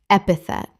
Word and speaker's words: epithet: epithet Three syllables with the stress on the first.